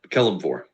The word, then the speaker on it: Kelemvor: is the symbol of Kel mour Kore Kell kelore okay Kell yes k e l e m